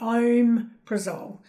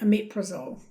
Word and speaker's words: omeprazole: So the first one you might think, okay, I could say omeprazole, but you actually say omeprazole.